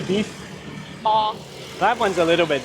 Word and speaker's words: bò: bò.